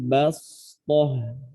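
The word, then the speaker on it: بسطة: Bacanya pakai sin. Ya. Adapun juga dalam bacaan wazadakum fil khalqi bastah.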